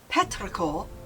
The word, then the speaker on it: petrichor: Petraor, pronounced Petraor, is a term for the earthy scent produced by the rain when it falls on dry soil.